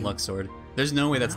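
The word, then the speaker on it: Luxord: no way i mean they pronounce it luke sword i'll always call him luck sword there's no way that's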